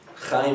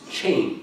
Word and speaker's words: Chaim: Chaim is not one of those easy to pronounce names, you know. So sometimes I'll tell people that my name is Chaim. C-H-A-I-M. Chaim, that's the way you would spell it. My mother, on her iPhone, she wants to say, call Chaim, and Siri never gets it. So I said, Mom, save me as, because Chaim and.